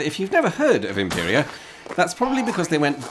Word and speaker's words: Imperia: was home of the famous Belgian car company Imperia, or as the locals pronounce it, Impéria. And if you’ve never heard of Imperia, that’s probably because they went bust in 1958.